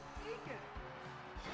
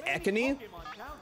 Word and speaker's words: Ekans: Oh, it's Eakins. Hi, Eakins. I'm sorry, that's Ekani. Learn to pronounce its name correctly, you fuck.